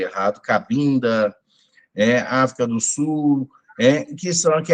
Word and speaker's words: Cabinda: começando por Angola, Moçambique, Cabinda, na verdade, né, pronunciei errado, Cabinda, África do Sul, que é a África Banto, que se cultua principalmente os inquinces.